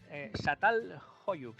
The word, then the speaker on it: Çatalhöyük: ¿Satal? Çatalhöyük, se escribe con la C trancada.